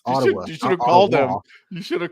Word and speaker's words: Ottawa: like Paul you're not saying it correctly it's Ottawa you should have called him you should have